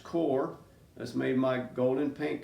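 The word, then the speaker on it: Qor: I'm using core watercolors it's q r pronounced core that's made my golden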